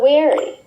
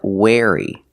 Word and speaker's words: weary: What about weary? That's right. The word is pronounced weary, not wary. Pronunciation, weary. Using the long E sound like green beans.